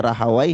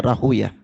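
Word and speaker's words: Rāhwayh: Ishaq bin rahuyah rahimanaahimahullah rahuya ini bisa dibaca rahaw bisa dibaca rahuah tapi Ahlul hadis membacanya rahuah dia katakan aku menetapkan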